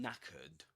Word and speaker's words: knackered: Guys, being knackered means that you're extremely tired. That's what knackered means. And And you write it like this. knackered. And here in this word, the K is silent.